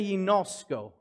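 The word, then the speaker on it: γινώσκω: Say yinosko. Yeah, that was a little harder. Yinosko. All right, I would spell it out for you, but it's all Greek to me.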